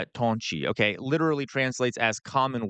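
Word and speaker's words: 同志: Tonshi um I'm sorry but in a in a commun in pronounced Toni.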